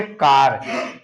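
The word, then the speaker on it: car: दूसरा आप देखेंगे सी ए आर, इसको हम क्या पढ़ेंगे? कार। सी को हम क्या पढ़ रहे हैं? का पढ़ रहे हैं।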